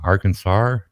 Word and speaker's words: Arkansas: it's got an r in it you know Arkansas oh no I haven't heard that way but